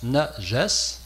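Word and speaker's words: نجس: mot nesse le voici ça se prononce n Jes N a J a S et ça a été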